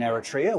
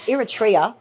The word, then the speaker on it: Eritrea: We have applied for a property in Eritrea, which is where we were previously working on the Kaluli Potash project.